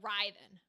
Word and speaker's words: Ryven: Kind of like... Almost like Writhying. Just like without the hard G. So like Ryven.